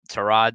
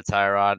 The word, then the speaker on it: Tyrod: as Tyrod Taylor now to Rod Taylor basically there was this whole like this thing that came out about how his name is actually pronounced to rod and set a tie rod and I let Bobby